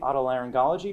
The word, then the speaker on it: otolaryngology: She is an audiologist from Jefferson Hospital in the, and I'm going to try and pronounce this correctly, otolaryngology department.